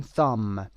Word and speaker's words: thumb: و اگر انگشت شست رو هم بخوایم بگیم thumb T-U-H-M-B، بیش هم تلفظ نمیشه thumb.